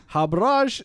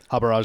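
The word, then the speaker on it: Harbhajan: It's ingoding cricket cricketing legend the Turminator Habra Singh. Is that how you pronounce it? Habarrage Singh. Habrage Singh.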